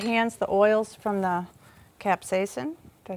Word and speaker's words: capsaicin: They have something called capsicum. That's how you say it. It's the spice. Capsaicin. That's what capsaicin. No, capsaicin. Capsaicin. I just know it's the spicy stuff on there.